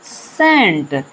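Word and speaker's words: scent: इसे पढ़ेंगे सेंट।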